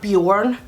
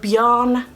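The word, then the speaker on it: Björn: John is a Swedish name and it's not Bjorn it is spelled John Bjorn doesn't mean anything in Swedish but beyond does it's a name but it's also the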